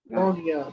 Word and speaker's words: Brogna: How do you pronounce that? Bronya. Bronya. Yeah, see.